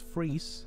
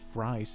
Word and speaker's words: Fries: of one count Fry's well it's most likely pronounced count freeze but I'm gonna ignore that cast upon the side because how often do you get to say count fries in a video anyway